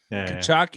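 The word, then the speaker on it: Tkachuk: Rhymes with Rachuk. Fantasy stud, man. Kachuk and Shabbat.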